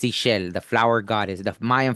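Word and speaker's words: Ixchel: I know they don't pronounce the Ishel, right? It's Ishel, the flower goddess, the Mayan flower goddess too.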